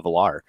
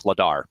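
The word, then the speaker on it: Vladar: Flames golton or Danville Velar um no it's ladar the V is silent is it really are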